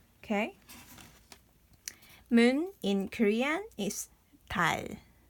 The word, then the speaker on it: 달: 리을 is we usually pronounce is L. So this is 달, 달.